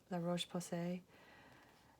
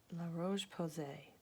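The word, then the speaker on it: La Roche-Posay: good stuff but this is this right here la roche posay la roche posay that's how you say it in this this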